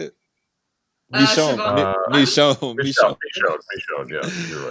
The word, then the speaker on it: Michonne: Cut the bottom of their jaws off, like Shimon. What's her name? I said Shimon. Shimon. Is that how you say it? Michonne.